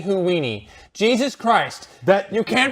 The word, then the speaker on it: Houdini: Houdini. It's Houdini Houdini. Jesus Christ. You can't pronounce that single damn name right.